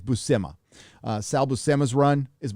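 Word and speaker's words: Buscema: pronounce his last name i used to call him sal buschema but i think it's bussema uh salbo sema's run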